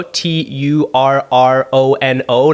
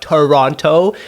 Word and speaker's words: Toronto: Oh, and by the way, you pronounce it, for all of you non-Torontonians, it's Toronto, Turrono, not Toronto. The second T is silent.